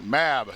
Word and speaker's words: MAB: MAB. That's how you pronounce it.